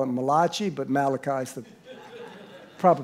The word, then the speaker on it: Malachi: people call it Italian call it Malachi but Malachi is the proper pronunciation it says before the great and terrible